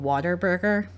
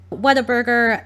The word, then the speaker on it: Whataburger: My boyfriend's from Texas and he laughed at me because I thought it was called Waterburger. Whataburger, In-N-Out, these places don't just like get frozen patties delivered to them.